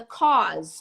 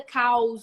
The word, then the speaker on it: cause: reasons talking about the cause of something not the cows of the problem the cows of the problem are big cows cause repeat with me cause cause the cause of